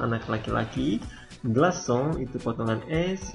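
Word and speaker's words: glaçon: dibaca S walaupun e diikuti oleh A jadi walaupun a i terserah dia akan selalu dibaca S fas GL Kalau sa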